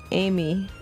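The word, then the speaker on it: Aimi: expanded upon and oh it's spelled a i m i yeah jeez I never would have gotten that Amy Amy a Emy at Emy no just Amy at Emy it say that's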